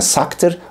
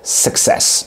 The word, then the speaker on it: success: değil yanlış telaffuz success Arkadaşlar orada Şua sesi var Sak kelimesine yalamak kelimesindeki olduğu gibi a sesi yok o kelime sakır bu kelime success E bir diğeri Türklerin